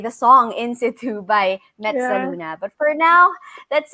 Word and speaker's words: Mezza: my example was perfect i said so mezza like pizza that's true yeah yes